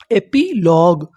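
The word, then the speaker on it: epilogue: एपी एल ओ लॉ जी यू ई ग एपीलग एपिलॉग एपिलॉग का मतलब होता है उपसंहार क्या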